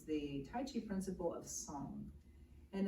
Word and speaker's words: song: Tai Chi principle of song and it's spelled like sing a song s Ong but it's really just